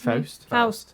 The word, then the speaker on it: Faust: especially regarding browse froze well how do you pronounce Faust that's it like like the field story yes